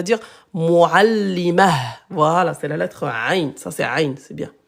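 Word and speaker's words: ع: Allez 93 c'est la ain cette lettre là c'est la lettre ain elle est pas facile à prononcer comme ça. Voyez comment j'ai fait ? Hop, je monte, je recule, je redescends.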